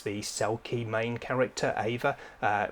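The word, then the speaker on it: Eimhir: cell key main character Ava uh the spelling of that is EI m h i r which a lot of people wouldn't look at as Ava I think it's maybe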